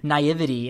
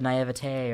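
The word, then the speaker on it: naïveté: I was saying naivety instead of naivete or whatever. It's pronounced. It's naivete, right?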